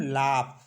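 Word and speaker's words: laugh: हम फ ऐसे जैसे एल ए यू जी एच इससे पढ़ते हम लाप तो यहां पर भी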